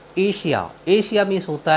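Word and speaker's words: Asia: एन आए तो हम एस का उच्चारण बड़ा श करते हैं जैसे ए एस आई ए एशिया एशिया मीस होता है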